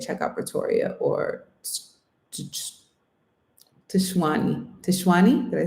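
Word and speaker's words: Tshwane: Tishwani?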